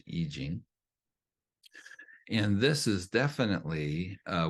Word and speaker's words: I Ching: It looks like I Ching, but it's pronounced I Ching.